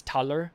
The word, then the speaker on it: Taler: That's where we get the word dollars from and it's pronounced dollars. And so in German that t it's not dollar, it's taler.